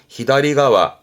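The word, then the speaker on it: 左側: 발음은 히다리가와, 히다리가와.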